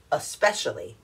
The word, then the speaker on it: especially: l y especially especially this is how it's pronounced especially not expecially lots of times people say expecially but no it's especially try it especially got it e-s-c-a-p-e escape escape